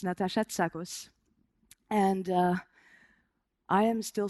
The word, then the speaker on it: Natasha Tsakos: pronounce my name correctly my name is natat SOS not tacos or taco or zakos it's natat SOS and uh I am